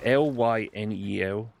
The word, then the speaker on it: Lynel: It's I pronounce it as Lino. It's Lynel.